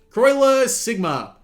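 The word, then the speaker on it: Croixleur Sigma: Croiler Sigma. Yes, that is how you pronounce that.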